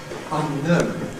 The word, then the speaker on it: unknown: What tends to happen when we've got three potential accents is that we suppress the middle one. So instead of saying quite unknown, we say quite unknown, quite unknown, quite unknown. We seem to suppress the accent on un.